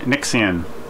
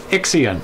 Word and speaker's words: Ixion: Nixion. Ixion. There's no N. I know, I was just trying to pronounce it. And never mind. Ixion.